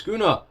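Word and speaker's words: Sukuna: Also, I've been pronouncing it Schooner because that's how they pronounce it, but it's not spelled like that.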